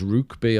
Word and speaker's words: Rokeby: And then this is I think it's spelled Rokeby, but it's pronounced Rukeby apparently.